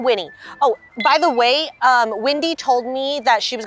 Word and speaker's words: Wendy: Oh, by the way, Wendy told me that she was gonna be 5 minutes late, so we gotta... Windy, how can the wind tell you that they're going to be 5 minutes late?